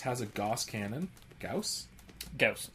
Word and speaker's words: Gauss: Gauss. It always rhymes with house.